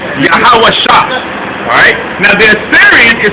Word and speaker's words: Yahawashi: Yahawashi. So this doesn't have an A, so but this one does. And when they're connected, it's S-H-I, so it's Shai. Yahawah, Yahawashi.